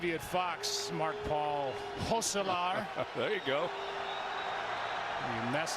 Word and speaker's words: Gosselaar: year with Mark Paul Gosselaar. The Passage premieres. Joe, come on. You had one job. Actually, you're right. And being the professional that you are, and because I'm Dutch, the correct pronunciation is Gosselaar.